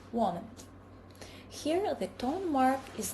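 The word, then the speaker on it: 我们: In natural, connected speech, a third tone loses its final rise and is pronounced as a low falling tone when it occurs mid-phrase. For example, woman becomes woman.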